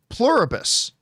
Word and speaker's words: Pluribus: But Plurabus, I hope I'm pronouncing that right.